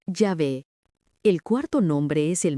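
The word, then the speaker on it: יהוה: Cuarto nombre, IHWH, pronuncia Yahvé.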